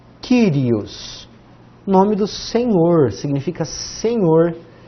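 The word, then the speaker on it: κύριος: Primeiro aparece um K. Depois, olha só, aparece um Y. Atenção, aqui ele está na sílaba junto com o K. Está com consoante, nós transliteramos como Y. Ki. Depois um Rho, R, Iota, O e S.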